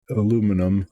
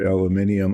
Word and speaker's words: aluminium: I'm saying that because they're European colors, and that's how it's spelled, to highlight some details on all of these things. So if I paint the base coat of aluminum or aluminium on this